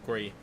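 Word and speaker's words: Gris: I actually played a game late last week called Gree, which I mispronounced entirely when I was on stream as Gress, but it's actually meant to be called Gree.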